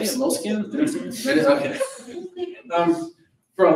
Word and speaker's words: Moleskine: Moleskines?